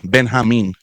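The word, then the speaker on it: Benjamín: Ben Hamin is what is what how you pronounce his name.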